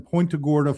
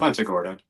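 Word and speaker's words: Punta Gorda: Um, you're talking, you know, there's one uh right here in Pointaga, Florida. Is that am I saying that right? How do you say it? Pontagorta.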